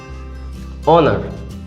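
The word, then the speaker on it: honour: কিন্তু এবার যদি এটা দেওয়া হয় যে অনার, এটার শুরু হচ্ছে এইচ দিয়ে কিন্তু এর উচ্চারণ হচ্ছে অ দিয়ে, বাকিটার উচ্চারণ বলা হয় টোটাল উচ্চারণ হচ্ছে অনার।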